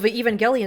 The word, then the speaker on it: Evangelion: you mentioned evang gallan is that how you pronounce it yeah Evangelion uh or some people say evangeli uh that's